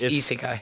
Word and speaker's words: isekai: You know it's actually got like 4 different pronunciations? Yes, but like the actual, it's isekai.